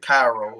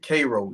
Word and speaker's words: Cairo: people will pronounce it Cairo as Cairo, Egypt. But here in the Deep South, we pronounce it Cairo, Georgia.